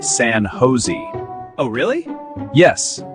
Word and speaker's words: San Jose: San Josh. It's actually pronounced San Jose. Oh, really? Yes. In English here, the J is pronounced like H.